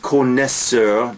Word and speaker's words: connoisseur: you listen to me connoisseur French word pronounced connoisseur despite the oh I in there which is really cool